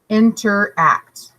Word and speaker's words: interact: maybe not at all interact three syllables for interact interact you can see the emphasis is on this last syllable and it's a verb